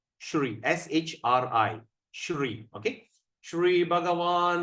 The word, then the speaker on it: Shri: Shri Bhagavan Uvacha. Now Krishna is speaking. Shri Bhagavan Uvacha. See the word S at the apostrophe. How are we going to pronounce? Shri.